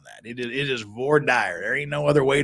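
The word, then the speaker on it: voir dire: Americans love to mispronounce now we we we pronounce it correctly ghost it it is VOR dire and I will fight you to the death on that it is it is VOR dire there ain't no other way to pronounce trust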